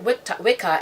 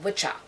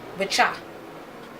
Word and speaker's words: wicca: acceptable, the word, and they call it Wicca instead of witcha. Okay? And that old, and it's a noun, and that noun being witcha, it just basically means a male witch, witcha, W-I-C-C-A.